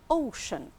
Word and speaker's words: ocean: So here we pronounce the sea, sh, ocean.